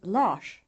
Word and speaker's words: Lars: The rush sound is pronounced when the letter S follows an R, as in the words orsak, kors, and Lars.